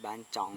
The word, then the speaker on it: บ้านจ้อง: วัดบ้านจ้อง วัดบ้านจ้อง (ไม่ใช่วัดบ้านจ๋อง ออกเสียงผิด) วัดบ้านจ้อง ทางเข้าที่หนึ่ง (ย้ำ บ้านจ้อง ไม่ใช่ บ้านจ๋อง) ทางเข้าที่ 2.